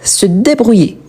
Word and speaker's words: se débrouiller: Donc ici, la même chose, le verbe à l'infinitif débrouillé, on ne prononce pas le R, on prononce comme si je l'avais ici un accent aigu. Donc se débrouiller.